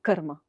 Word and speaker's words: karma: Par exemple, le mot mantra n'est absolument pas prononcé correctement. Normalement, c'est mantra. Le mot karma, c'est karma. Et le mot yoga, c'est pas du tout yoga, c'est yoga. Vous entendez le petit E subtil à la fin qui n'est pas du tout une voyelle.